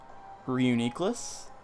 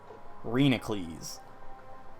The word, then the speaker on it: Reuniclus: maybe it's a little bit too far-fetched, but I say the Pokemon Reuniclus. Now, get ready for this. I call Reuniclus Renacles.